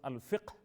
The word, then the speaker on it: فقہ: ہم کہتے ہیں نارمل، اصل میں عربی میں صحیح تلفظ الفقہ، قاف میں سکون ہے، جزم ہے، لیکن ہم اردو میں اور دوسری زبانوں میں فقہ بھی کہہ دیتے ہیں۔ تو فقہ اسلامی